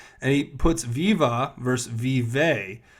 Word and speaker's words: vive: So obviously they didn't even know that in French it's vive and not viva.